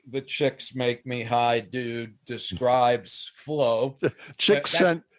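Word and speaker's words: Csikszentmihalyi: It is like the chicks make me high dude describes flow. Chick That, sent McCallie no, I met him. McCallie. He told me this is how I pronounce my name. Chicks make me high.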